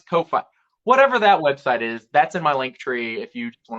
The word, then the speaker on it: Ko-fi: can I know, because the whole thing is like you can buy me a coffee, but it's spelled Ko-fi, and I'm like, but that's Ko-fi.